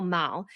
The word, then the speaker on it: Mall: And it's Mall, M-A-L-L, but they pronounce it kind of miles. So people like complain. They're like, oh, you're saying Royal Mile. That's in Edinburgh. I'm like, no, it's like Royal Mall.